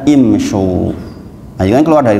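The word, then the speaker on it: امشوا: Tetapi ternyata dalam Al-Quran tidak dibaca umsyu, tapi dibaca imsyu.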